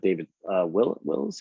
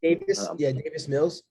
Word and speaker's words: Davis Mills: But they have David Wills. How do you say his name? David Mills. Yeah. Davis Mills.